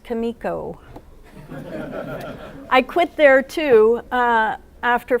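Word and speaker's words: Comico: answer everyone's burning question it's pronounced Kimiko I quit there too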